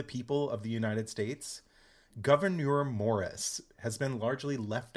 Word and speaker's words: Gouverneur: too hard to pronounce it's like a french spelling uh it's g-o-u-v-e-r-n-e-u-r governor oh he's not just